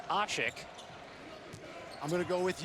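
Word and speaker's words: Aşık: and fifth points but the pronunciation that we've gone with here and speaking with some of the turkus officials is ashik I'm going to go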